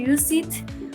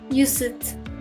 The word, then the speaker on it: used: The actual words she used were taken as evidence. Okay, used. Use it. No, not use it. Used. 1 syllable.